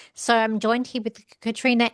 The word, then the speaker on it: Caitríona: female and I believe her name is we're going to pronounce it Katherine. Katrina. Katrina. Sorry, Katrina. Sorry, it's okay.